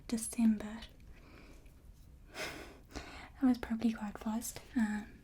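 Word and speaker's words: Desember: And then December is spelled with a S instead. December. So we just got the R, and it's kind of pronounced similar other than that R.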